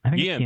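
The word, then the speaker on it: Guillén: Harvey Guillen. Harvey Guillen? I don't know how to say it. Guillen, thank you.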